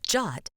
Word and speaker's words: JWT: Jot pronounced Jot and written as JWT is an internet standard for creating encrypted JSON payload data.